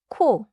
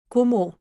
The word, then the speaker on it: 고모: The first syllable is go, not 코. 고모.